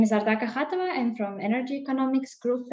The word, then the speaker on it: Ardak Akhatova: And the next presenter is Ardak Akhatova. Is that, how did I pronounce that? It's good. It's acceptable. Ardak Akhatova, yeah, acceptable. It's right, so, almost the same.